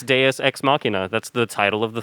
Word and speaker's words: deus ex machina: oh yeah that's yeah cause that's how you say it too it's deus ex machina that's the title of